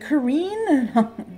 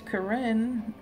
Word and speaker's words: Corinne: nobody can pronounce it everybody's like Kareem no no I really don't care what you call me but and it's Corrine but a lot of